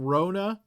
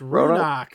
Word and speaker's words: Runak: Did you call him Rona? Roanoke? No, it's Runak. Okay, Runak, yeah.